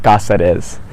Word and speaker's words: Cazares: this is for posterity so be honest cazares did i say your last name correctly almost almost that's okay how do you say it we say gossip is but it's kind of it's not i have